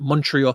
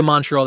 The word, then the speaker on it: Montreal: Toronto been to Montreal Montreal they don't say Montreal they say Montreal a Montreal like one word Montreal one syllable um that's it yeah